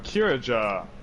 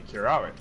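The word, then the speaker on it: Curaja: However, Kiraja, that one is, even in Japanese, really hard to pronounce, because a lot of time you'd want to pronounce the J as a Y, which would be Kiraya.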